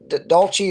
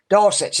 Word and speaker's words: Dulcich: Dolce or Deluxe. I'm sorry, I'm a country boy. I don't know how to pronounce it. He's done on IR. Dulcich, thank you.